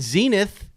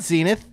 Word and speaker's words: Zenith: And Zenith. It's not Zenith. Zenith. Zenith. Like Gwyneth.